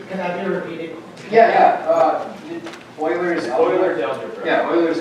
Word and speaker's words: Euler: Euler's algebra. Euler's algebra. Yeah, Euler's algebra. It's spelled. We did not finish. It's not spelled like oil fields. It's spelled E-U-L-E-R.